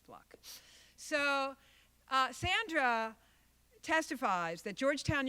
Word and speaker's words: Fluke: I know people refer to it as Fluke, but it's actually pronounced Fluck. I debated her at Albany Law School, and it is pronounced Fluck.